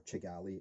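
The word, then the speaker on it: Kigali: the capital of Rwanda kagali or chagali as it's pronounced in kenwanda because the KE is pronounced ch um so if you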